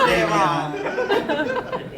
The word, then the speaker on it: Damian: He pronounced that shit wrong. It's Damian. Say it right.